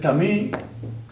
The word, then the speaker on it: Camus: gusto, que es Albert Camí. Eh, su apellido se escribe c A M US. Camus. Entiendo que se pronuncia camí por ser francés.